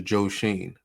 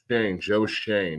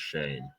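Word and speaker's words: Joe Schoen: Joe Shane. That's how it's pronounced, Shane.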